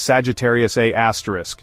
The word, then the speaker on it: Sagittarius A*: At its center, about 26,000 light-years from Earth, lies Sagittarius A*, pronounced A-star.